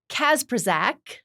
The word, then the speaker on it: Kacprzak: Our guest, Paul Kacprzak.